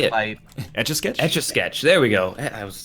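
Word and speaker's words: Etch A Sketch: Etch-a-sketch.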